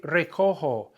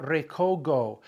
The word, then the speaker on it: recojo: If I don't change that G to a J, I've got recogo, because a G, when followed by an O, is a hard G sound. Recogo. It's recoger. We need the soft G sound. So how do we get the soft G? We swap out the G for a J.